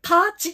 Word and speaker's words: 徒歩: 気をつけてこの古典で徒歩と書いてなんて読むうんこれパーチっていう風に読むんだ古典でこんな風